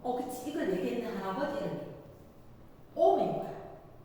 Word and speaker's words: 옴: 오메가 3에서 뭐라고 읽어? 옴 이렇게 읽으면 이해됐어?